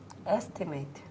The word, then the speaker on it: estimate: So if this is a noun, where is the stress going to be? The first one. And the last syllable, if it's a word of two. Sure. Exactly. So. Estimate. And what did you put as the last syllable? Sure. No. You put a diphthong, a, estimate. Holidays.